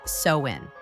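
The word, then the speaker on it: Samhain: Over two millennia ago, the Celtic people of Ireland, Scotland, and Northern France celebrated a festival called Samhine, pronounced sewin.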